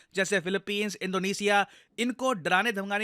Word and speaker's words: Philippines: है इंडिया के लिए फिलिपींस इसको फिलीपाइन नहीं प्रोनाउंस करते हैं हम काफी बार इंडिया में हम लोग फिलीपाइन बोल रहे होते हैं फिलिपींस देखिए एक